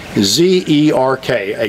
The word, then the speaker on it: Zerk: the little fittings but I've heard it all desert Gurt or zer T and some people spell it zer C but it's actually zer ka grease desert that's the